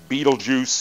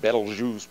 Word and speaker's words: Betelgeuse: Betelgeuse is how it's usually mispronounced. Betelgeuse, probably a bit better.